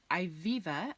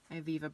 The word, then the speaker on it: Ivivva: First up is Ivivva, I believe is how you pronounce this, and it is the sister company of Lululemon.